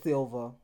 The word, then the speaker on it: Cilva: introduce yourself okay so my name is correctly pronounced as silva and you are saying it right but sometimes people be